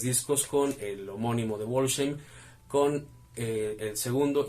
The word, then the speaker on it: Wolfsheim: Ellos lo pronuncian así, Wolfsheim, aunque también se puede pronunciar como Wolfsheim, dado que el nombre de la agrupación proviene del libro de El Gran Gatsby de Scott Fitzgerald, donde el protagonista Meyer Wolfsheim es el que está narrando la historia. Entonces tiene las dos pronunciaciones.